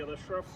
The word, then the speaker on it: Ashraf: My name is Ashraf. It's spelled as S-Y-E-D, A-S-H-R-A-F, Ashraf.